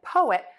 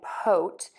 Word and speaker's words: poet: 2, poem and poet, we're only going to have 2 syllables. This does get a little confusing. A lot of my students just think this is poem and poet, because typically when we have 2 vowels together, we only say 1. But in this case, we're going to break that into 2 syllables.